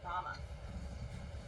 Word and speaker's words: Ramah: It's spelled the same as Rachel's village in the Bible. Hell, it was named for it when Brigham Young's scout found it back in 1876. Except around here, everyone pronounces it Ramah.